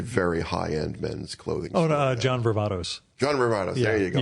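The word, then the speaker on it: John Varvatos: front of CBGB's, which is now, I think, Robert Vartana. I'm not sure if I'm pronouncing it properly, but it's a very high-end men's clothing store. John Vervatos.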